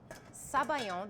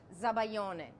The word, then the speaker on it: sabayon: to go to the Sabayon The Filling or in Italian it's zabayon so it depends on who you ask but but you know Sabayon is the French term and Italians use zabayon all the time I mean some